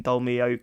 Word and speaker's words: Dolmio: Why do you keep saying Dormio? Yeah. The Dormio, what am I saying? Is that wrong, Dormio? There's an L in it.